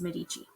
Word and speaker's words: Medici: But it's, at least from the way I've been taught, it is pronounced Medici.